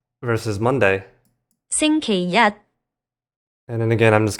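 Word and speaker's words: 星期一: So, on the left, we have xīngqīrì versus on the right xīngqīyī And again, with the Google voice we have Sunday. xīngqīrì versus Monday. xīngqīyī And then again, I'm just going to play them one after another.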